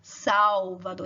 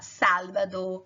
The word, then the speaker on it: Salvador: Salvador, em português fala Salvador, esse L tem um som de U, mas em espanhol você fala Salvador, que o L tem um som de L mesmo.